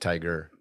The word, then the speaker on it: Tyga: have you heard of Tyga actually actually pronounced tiger pure Brody how how